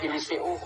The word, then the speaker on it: Eliseo: Eliseo parang si si Mateo kung tawagin.